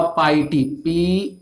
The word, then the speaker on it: piety: क्या लिखेंगे, PIETY, पाइटी, pronunciation इसका पाइटी है, पाइटी, ठीक है। पाइटी, पाइटी, ये देखो पिटी नहीं है भैया, यहाँ पे इसको प्रोनाउंसिएशन पिटी मत बोल देना, पिटी का मतलब दया, ठीक है।